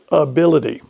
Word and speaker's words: ability: So let's start with the word ability.